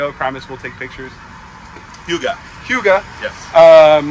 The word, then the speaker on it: Hygge: the video i promise we'll take pictures yuga hyuga yes um not to be confused with heidi or higgy there's actually it's pronounced as hugo hugo why why do we pick hyuga as